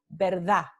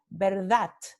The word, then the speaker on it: verdad: Entonces, en algunos lugares, la palabra verdad se pronuncia verdad, verdad. Y esto es para mostrar elisión. ¿Okay? En otros lugares se pronuncia como un alófono oclusivo dental sordo.